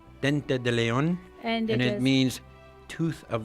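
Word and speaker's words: diente de león: French and in Spanish it means it's actually pronounced Dente de Leon and it means tooth of the lion are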